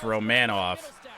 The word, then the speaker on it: Romanov: Apparently its name is pronounced Romanov.